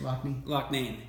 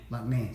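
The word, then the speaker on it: Loughnane: We have Robert Lamb, Jimmy Pankow, and Lee Lockney. Is that how you say it, Lockney? Locknane. See, this guy's the expert.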